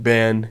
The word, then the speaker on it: Bagnah: co-host Caleb etan and today we have bagner is that how you pronounce it's B yeah yeah a lot of people get it mixed up but it's pronounced ban yeah okay stop to clarify where where exactly